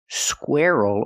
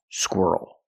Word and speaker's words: squirrel: not squirrel but squirrel this word rhymes with the word girl so practice these two